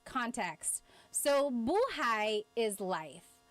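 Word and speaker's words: buhay: So buhai is life. If you say, the emphasis is on the second syllable, that means alive.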